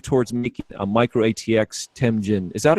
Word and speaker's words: Temjin: Will Silverstone move towards making a micro ATX Temjin? Is that how you pronounce it? Temjin? Yeah, Temjin.